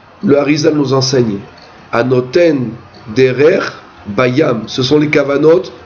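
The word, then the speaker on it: דרך: Un chemin en hébreu se dit derer. Derer, c'est un chemin. Ça s'écrit Dalet, Resh, Kaf.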